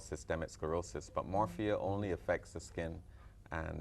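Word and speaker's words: morphea: we're talking about morphia you said it right morphia Doug is Doug is really on point yeah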